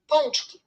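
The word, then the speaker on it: pączki: I could never guess the pronunciation. Ponchki.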